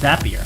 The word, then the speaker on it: Zapier: It's pronounced Zapier, like happier.